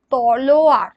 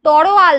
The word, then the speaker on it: তলোয়ার: থাকি একচুয়ালি বিষয়টা হচ্ছে তলোয়ার শব্দটা হলো তলোয়ার আমরা কি করি এটাকে উল্টে দিই লটাকে র উচ্চারণটা আগে করি সেটা কি করি তরোয়াল বলে দিই তাহলে কি হয় যে